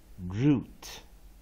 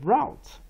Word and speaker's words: route: U T E，啊，这边打个叉，这边画过来，那这个 U 念长母音，root， root， root，啊，root 是这样念的哈，也就是 U T E as root， U T E vowel consonant E， U 这边打个叉，root。或者我们念 route R O U T E O U as